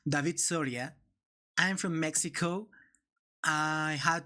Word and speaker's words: David Soria: So, my name is David Soria, and my native language is pronounced David Soria.